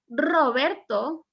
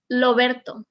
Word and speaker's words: Roberto: as you can see, my R is Roberto. Okay, in Latin America, like in these countries, Puerto Rico, Cuba, or Dominican Republic, they still pronounce it Roberto. You will never hear Loberto.